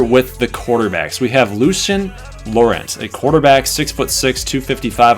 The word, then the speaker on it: Lucien: It's actually pronounced Lucien. He's a French-born player that played football in France all the way through high school, where he broke passing records and sack records on defense as defensive end.